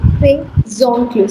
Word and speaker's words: ses oncles: Say zoncle. Say zoncle. Now the z sound is shifting and it becomes zoncle.